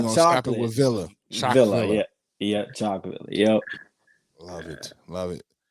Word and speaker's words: Chocvillah: Yeah, Chocvillah.